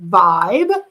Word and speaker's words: Vyb: a company called Vibe spelled vyb but it's supposed to be pronounced like Vibe and it is run